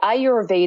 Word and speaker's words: Ayurveda: you pronounce that right Ayurveda and it's actually two words it's a Sanskrit word I your which is a why you are translates to life and Veda the EDA